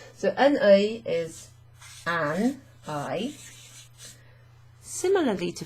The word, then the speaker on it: un œil: You pronounce the N before the O.